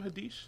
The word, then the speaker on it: Haddish: Do you pronounce her name Haddish? Yeah.